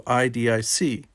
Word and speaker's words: idic: philosophy of spiritual Oneness the actual Vulcan word is pronounced more along the lines of e humans have transliterated it into idic claiming that it stands